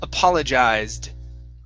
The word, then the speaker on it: apologized: So it's apologized. Apologized. Okay. All right, better. Let's try for a D sound. You added a T saying apologized. Instead of T, we want D.